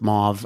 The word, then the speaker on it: mauve: Like just call it mauve and I've never even known how to pronounce that color. So I checked a couple sources. I went with mauve.